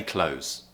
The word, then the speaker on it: clothes: the word close okay two ways you can pronounce it with the th if you want to but I would say probably about ten or twenty percent of people actually do in the UK just say close close like close the door okay I'm wearing clothes